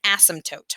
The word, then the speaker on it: asymptote: has what's called an asymptote i know it's a very strange word the p is silent an asymptote is a